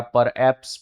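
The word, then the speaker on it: perhaps: परहैप्स में middle में एच है तो साइलेंट हो जाएगा। परहप्स बनाते हैं लेकिन परहप्स पढ़ते हैं।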